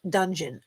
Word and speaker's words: Dungeness: So, and Dungeness is pronounced dungeon.